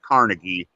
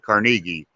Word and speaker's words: Carnegie: creative writing at Carnegie, and that's how you pronounce it. It's not Carnegie; you pronounce it Carnegie.